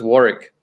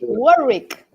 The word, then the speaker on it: Warwick: the estate absolutely so it's warwick second w is silent okay warwick so we have here